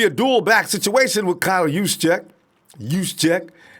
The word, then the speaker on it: Juszczyk: Because more than likely, it's going to be a dual-back situation with Kyle Juszczyk. Tyler, don't call me up and tell me how to say the name. That was it. That was Juszczyk, all right?